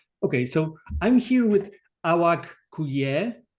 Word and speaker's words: Awak: So, I'm here with Awaku, right? That's that's the proper way of pronouncing your name. Yes. Awaku.